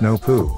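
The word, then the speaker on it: Noopoh: spelled n-o-o-p-o-h and pronounce no poo the H is silent and capitalized noon is the Ethereal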